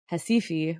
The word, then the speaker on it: Recife: And then maracatu, which I also mentioned, is a carnival rhythm from Recife, or it looks like Recife when you spell it out.